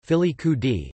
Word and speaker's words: Filicudi: Filicudi, Italian pronunciation, Filicudi, is one of 8 islands that make up